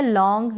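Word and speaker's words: long: फिर ये है लॉन्ग, यहाँ पर भी एन जी है। ये जो लास्ट में एन और जी आ रहा है ना, इसका उच्चारण आधा न और ग होता है, आधा न और ग होता है।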